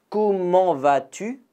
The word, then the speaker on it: Comment vas-tu: Donc pareil même avec le T, on ne prononce pas le T est muet. Comment vas-tu?